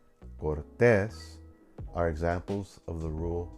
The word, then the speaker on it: Cortés: Same thing for sartén, Cortés. The rule states if a word ends in an N or S, the second to the last syllable should have the stronger stress.